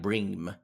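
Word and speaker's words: bream: even know them fish it's spelled b-r-e-a-m like brim but my mother um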